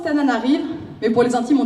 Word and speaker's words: Antananarivo: proches concernant faire ça c'est antananarivo c'est le monde la capitale face prononce comme ça ça s'écrit antananarivo ça se prononce tananarive mais pour les intimes